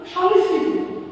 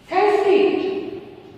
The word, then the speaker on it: সংস্কৃত: এই বিষয়টির নাম হলো সংস্কৃতি এই বিষয়টির সঠিক উচ্চারণ হলো সংস্কৃতি এবং এর ইংলিশ উচ্চারণ হলো এস এস কে আই আই টি সংস্কৃত এর ইংলিশ উচ্চারণ হলো সংস্কৃত কেউ কেউ বলে